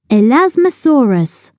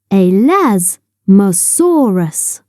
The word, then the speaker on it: elasmosaurus: like flat plates how do you say it elasmosaurus say elasmosaurus it is quite dark under the water so